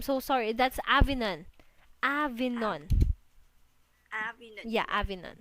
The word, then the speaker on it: Avignon: Oh, yeah, Avin, I'm so sorry. That's Avignon. Av, Avignon.